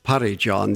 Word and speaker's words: Phari-Jong: And Parijong, I found out that the pronunciation of that monastery is Parijong. There is no F sound in Tibetan.